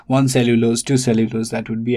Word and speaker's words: cellulose: and two all right stress falls on the first one so it is cellulose not cellulose see the difference it